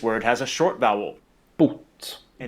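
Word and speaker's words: bot: This word has a long vowel boot and it means cure. This word has a short vowel boot and it Wait, where do you see the short vowel though?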